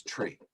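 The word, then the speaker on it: three: For instance, the numeral 3 is tree, and the phonetic Mm. and the phonetic pronunciation for Q is Quebec.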